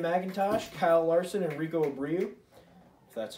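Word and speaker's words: Abreu: race against Canon McIntosh Kyle Larson and Rico Abril that's how you pronounce his last name tonight we the final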